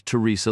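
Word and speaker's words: Theresa: The name was Teresa Lee with the T and the H pronounced together like the or theme or therapy.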